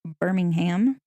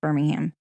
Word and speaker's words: Birmingham: and became dominated by steel production, much like Birmingham. Our fair city is known as the steel capital of the South. Mm-hmm. So, also, we were discussing Peaky Blinders earlier. Anyways, Peaky Blinders is in Birmingham, England.